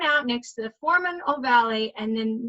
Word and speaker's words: ovale: Okay, I like to pronounce it like this because it's like, it's oval, but it has an 'e'. So that's why I say foramen ovale.